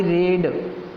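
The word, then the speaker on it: read: अब हम मध्यम पुरुष में, यानी कि इसका इंग्लिश होता है आई रेड, रीड, रेड, रेड। Spelling same रहता है, प्रोनाउंसिएशन चेंज होता है।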